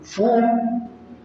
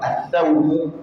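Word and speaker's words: ثوم: Foum, dans une autre manière de prononcer, thoum.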